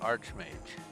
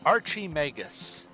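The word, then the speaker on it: archmage: seen in the sky I would like to know why everyone in this game pronounces it they add an eye to Arch mage they say Archy megas Archer Mage anyway but we must find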